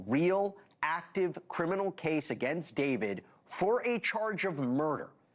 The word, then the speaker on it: D4vd: This is the case against the pop star David Anthony Burke, better known as David, spelled with a 4.